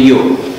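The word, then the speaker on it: Ё: E atau Y dengan dua titik, bacanya Yo.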